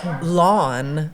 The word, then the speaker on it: lawn: I actually have a shirt that says lawn rhymes with yawn, which I was going to wear today, but it's dirty.